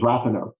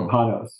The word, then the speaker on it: Rapanos: The most recent Supreme Court decision on the topic was Rapanos or Rapanos, depending on what Mr. and Mrs. Rapanos say. Their name is how their name is pronounced.